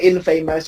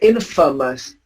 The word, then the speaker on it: infamous: Infamous, first syllable. It's a first syllable and you pronounce it. Infamous. No. Yeah. Because you don't stress on the A. You don't say infamous. You say infamous.